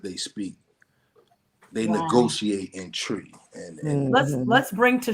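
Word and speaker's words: Twi: uh it's it's pronounced it's spelled t-w-i but it's pronounced tree so that's the the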